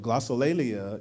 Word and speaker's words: glossolalia: Google and they will give you the right pronunciation but glossolalia is the greek word for speaking in tongues